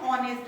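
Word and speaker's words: honest: दिया आपने देखा होगा ये जो एच है इसका हम साउंड नहीं करते है ना ये तो साइलेंट लेटर है तो फिर हम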